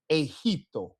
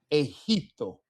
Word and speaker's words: Egipto: For the ones that are not color coded, these are our H sounds. Generoso, Egipto. Okay. Generoso, Egipto.